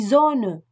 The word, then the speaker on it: Sonne: Le S, en début de mot, et entre deux voyelles. En début de mot et entre deux voyelles, le S se prononce comme un Z français. Il s'agit d'un son sonore qui entraîne une vibration des cordes vocales.